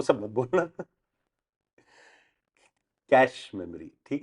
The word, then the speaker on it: cache: कैश spelling बोलो, CACHE, कैशे, इफ you want to pronounce it the perfect way, but that is very difficult to गेट it right, तो इसके लिए सब लोग उसको American वे से कैश बोलते हैं।